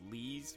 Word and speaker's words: Lies: it comes i mean the name is actually pronounced lee's but you know how americans do i mean yeah of